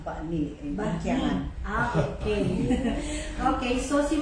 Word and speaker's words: Bani: That's actually pronounced Bani.